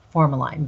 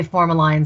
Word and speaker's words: formalin: If we have a body which is embalmed, that's 3 pounds of that toxic formalin going into the body. Some say formalin, some say formalin. I've heard two pronunciations, but that's ultimately the